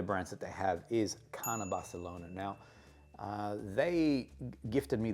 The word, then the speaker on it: Carner: Okay, so Carner is a Spanish brand based in Barcelona. Say it like the Spanish, and their fragrances are just incredible.